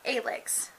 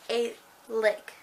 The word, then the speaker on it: Alex: Yes, I know, it's not Alex, it's Alex. It took me a while to figure that out. But then she pronounced it in the book, and she's like, Alex. Sounds like A-lick.